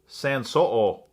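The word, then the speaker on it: Sanshouo: Sanso'o is how you pronounce it.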